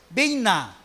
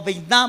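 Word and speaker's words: בינה: La palabra entendimiento en hebreo es bina, o bina más bien, porque lleva acento en la A.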